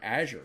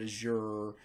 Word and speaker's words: Azure: learned is that um the Microsoft developers don't agree on how to say it either uh some of them say Azure some of them call it Azure some of them call